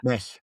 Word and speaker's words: Mec: Is it Mec? Mec, yeah. Mech. Okay, like a CH in English or German.